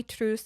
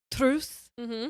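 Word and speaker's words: Truus: that I heard say it was truce I can't say it the way that they did it but it's t-r-u-u-s there when I was learning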